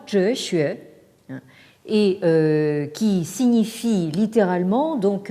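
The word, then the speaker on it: 哲学: Alors, donc, vous avez ce composé qui se prononce en japonais Tetsugaku et en chinois Zhexue, et qui signifie littéralement donc xue, l'étude de zhe, c'est-à-dire donc de la sagesse.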